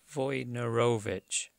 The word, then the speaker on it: Wojnarowicz: Wojnarowicz.